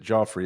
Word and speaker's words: Geoffrey: My my mom was a fan of uh Chaucer and he actually pronounced it Joffrey. It became Jeffrey later. So Oh, gotcha. I've been Joffrey my whole life and